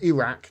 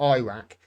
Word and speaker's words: Iraq: It was Iraq for 20 years, even though they knew it's called Iraq, not Iraq.